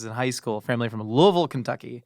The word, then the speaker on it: Louisville: Uh, my I dated a girl whose family is in high school, family from Louisville, Kentucky. Not Louisville, Louisville. So, it's officially pronounced.